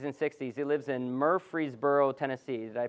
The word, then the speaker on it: Murfreesboro: in their 50s and 60s he lives in Murfreesboro Tennessee did I pronounce that correctly anyone know where if it